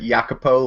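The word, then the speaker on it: Jacopo: left with Andrew playing jacapo yes um I am playing I actually pronounce it yako like the the thief from the count of mon kristo yeah um so I'm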